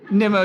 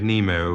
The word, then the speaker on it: Nimmo: Derek Nemo, who often pronounces his name... Derek Nimmo, why do you challenge? Deviation, the name is Nimmo, not Nemo.